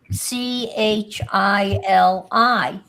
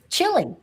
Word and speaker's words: Chili: It Oh, like in New York there's a town that's spelled C H I L I. Chili. Chili. Chili. Chile.